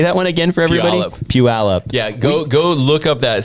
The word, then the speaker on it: Puyallup: Puyallup. Yeah, go look up that city online and try to pronounce it.